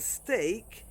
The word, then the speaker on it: steak: In great, break, and steak, it's pronounced A only in those three words, but also in some names.